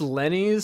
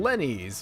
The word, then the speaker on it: Lenny's: I'm told it's pronounced Lenny's, so sure, let's just go with that.